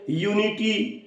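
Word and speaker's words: unity: है इसी तरीके से यूनिटी यूनिटी में यू से चालू हो रहा है एक वाउल है परंतु जब हम उसका उच्चारण करते हैं तो वो एक कंसोनेंट है ठीक ठीक है तो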